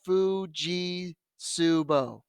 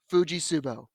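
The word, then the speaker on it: Fujitsubo: it's gonna be okay the t is silent it's pronounced fuji subo fuji subo i make sure the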